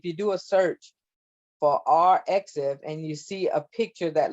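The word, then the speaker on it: arXiv: I think it's pronounced RXiv, okay, RXiv app, and that you can get that app free in the Google Play Store or the iTunes Store.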